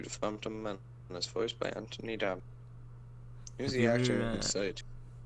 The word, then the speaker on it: Anthony: Oh, the H is silent. Anthony Daniels.